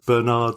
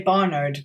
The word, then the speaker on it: Barnard: a formula for night Bernard Star or Barnard Star. I always say Barnard, but that may be my North American pronunciation.